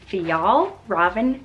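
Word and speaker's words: Fjällräven: how to say it it is theol robin konkin say it with me theol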